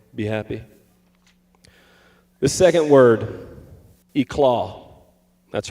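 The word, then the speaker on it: éclat: The second word, eclaw. That's right. I use an SAT word here. E-claw or aclaw, some would say, is spelled E L A T.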